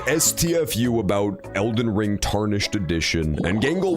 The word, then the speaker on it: Elden: He's going to say oo Elden. There we go. He's going to say it perfect. Not Ellen. That's not a not Ellen. E machine is not an Ellen Degenerous super fan.